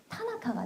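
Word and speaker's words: 田中: 한국에서 다나카라고 하지만 일본식으로 발음하면 타나카가 돼요. 단나카라고 하지 않습니다.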